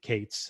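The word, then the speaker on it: K8s: eight in there and you get kate's and some of you hear somebody call it kate's they're talking about kubernetes but they're really just phonetically reading that right there and i'm gonna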